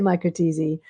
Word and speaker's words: Micro-TESE: micro tease but so I say microte um so it comes from tezy uh and that's a testicle extraction of sperm and